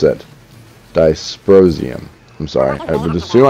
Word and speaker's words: dysprosium: commented on the what makes them change it's disprosium you have to pronounce it dysprosium i'm sorry i would assume i would pronounce